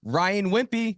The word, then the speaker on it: Wimpey: Ryan Wimpy. Ryan Wimpy of Tip Top Canine. How do you spell it?